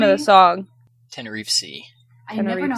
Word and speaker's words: Tenerife: Tenerife Sea. I never know how to Sea. pronounce it. I always want to say tentacle, but I'm like, no, it's not And an octopus. it basically sounds like Tennessee.